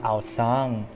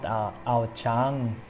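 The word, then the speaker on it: Aocang: It's supposed to be pronounced as Mount Aosang, and not actually not Mount Aochang.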